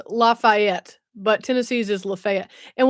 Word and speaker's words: Lafayette: or 6P newscast in Lafayette. Is it Lafayette? Yes. Yes. You're in Louisiana, so it's Lafayette. Tennessee has a Lafayette, but we don't pronounce it like that.